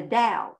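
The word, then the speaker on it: Tao: hindus and people call the dao t-a-o or we call god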